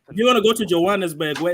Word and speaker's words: Johannesburg: No, but Johannesburg.